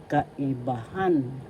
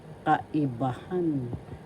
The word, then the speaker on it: kaibahan: Kaibahan. The fourth syllable has the accent. So you pronounce this as because kaibahan.